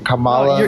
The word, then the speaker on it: Kamala: say Kamala I can't even say her name Kamala you said it right bro Kamala oh the